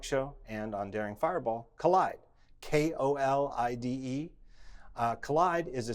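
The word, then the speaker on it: Kolide: on the talk show and on daring fireball collide Kol IDE collide is a security product for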